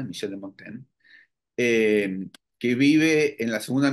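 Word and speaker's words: Montaigne: monta Michel de montain monta pero Mon se pronuncia Michel de montain que vive en la segunda mitad del siglo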